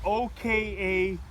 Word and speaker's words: Okatsune: The brand name is, and I'll spell it, it's OKATSUNE.